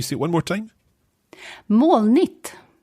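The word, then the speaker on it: molnigt: it one more time more neat right see sometimes it sounds as if you're pronouncing the g like a k in there and sometimes it sounds like it's silent i think i pronounce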